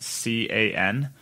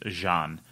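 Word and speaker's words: Jan: name is actually pronounced CA N and that is a German thing so John is actually German and that is pronounced ca n is pronounced Jean so if you see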